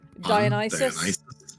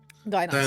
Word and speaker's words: Dionysus: Dionysus. Dionysus. Dionysus was Okay, cool. Very well. Yeah. Let me read some of these. You, I embarrass myself at a party. Dionysus, a party without humiliation is simply a meeting.